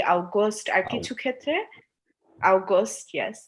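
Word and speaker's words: August: For example, জুলাইকে আমরা বলি ইউলি, জুনকে আমরা বলি ইউনি, বা অগস্টকে আমরা বলি আউগস্ট।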